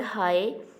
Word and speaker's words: high: In this sentence, word high, G in the word high is silent.